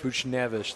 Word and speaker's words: Buchnevich: Can't pronounce once his name right, though. Buchnevich. Buchnevich, that's it.